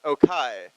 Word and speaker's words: Okay: Okai, spelled okay, but pronounced Okai.